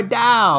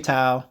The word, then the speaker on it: TAO: now what is da da is a coin Da comes from bit tenser ladies and gentlemen now